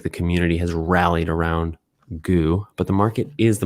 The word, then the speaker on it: goo: community to accept that g double o gary originally owned is pronounced goo one of our community members kyle posted on twitter he said pronounce these out loud moo zoo two now goo it was